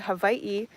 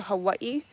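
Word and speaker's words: Hawaiʻi: So, we kind kind of reduce it down to Hawaii, but Hawaii, that's like a very foreigner way to say it.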